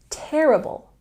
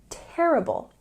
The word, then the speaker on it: terrible: of saying very bad say terrible with the stress on the first syllable terrible terrible the movie was very bad